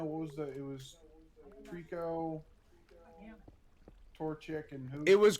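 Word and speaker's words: Treecko: Or Greco. I don't remember how to pronounce it. Ow! Why? Would you call him Greco? He said Greco. It's Trico.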